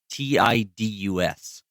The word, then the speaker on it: Tidus: The name Titus has Okinawan and Japanese roots, so it is Titus, apparently. I will never pronounce it that way. I know, because I thought Roman. I thought like that's where I went with Titus. it too. Thank you. Yeah, but it's It's Tidus.